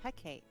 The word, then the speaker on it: Hecate: Ulric, how do you pronounce that? Hecate? Yeah. Her name is Hecate.